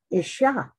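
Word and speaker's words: אִשָּׁה: That's for man, it's pronounced Ish. For woman, it's Olive, Sheen, and Hay, Isha.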